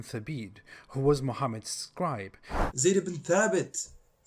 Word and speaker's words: Zayd ibn Thabit: Zayd ibn Thabit, not Thabit.